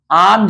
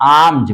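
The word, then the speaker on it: alms: बाल कहते हैं आम्स आमज माने एक वर्ड होता है ए एल एम एस आमज पढ़ते हैं एल साइलेंट है आमज माने भी होता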